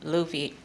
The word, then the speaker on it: Lovey: This is Lovey, Luffy, but most people pronounce it Lovey, so I'm gonna just go with that.